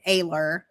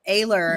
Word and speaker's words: Oehler: I always say my name is Oehler because if I say my last name Ayler, Oh, everyone yeah. immediately starts going to the A's, like if they're trying to look me up.